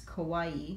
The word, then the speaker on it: kawaii: you really pronounce it I think it's kawaii just like Hawaii grape and the sweet